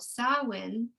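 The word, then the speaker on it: Samhain: they would have is called sawin but it's spelt i s-a-m-h-a-i-n most people probably have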